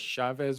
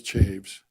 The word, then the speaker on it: Chaves: I was going to ask you, it it actually is Chaves. Is it Chaves? Yeah. I mean, a lot of people pronounce it chavez or chavs, but it's chaves.